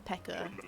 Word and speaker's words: Pekoe: Personally, I just pronounce it as Pekoe, even though it's got an E on the end. Like, Pekoe just sounds...